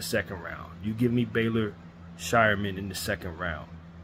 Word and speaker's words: Baylor: but bra Baylor shyan I don't know why I keep calling him Brer I think the first person I heard say his name said Brer and haven't been able to get out of my mind but it's Baylor like elen Baylor Baylor shyan trenden flowers